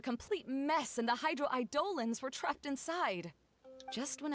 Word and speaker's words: Eidolons: Eidolons, that's how they say it.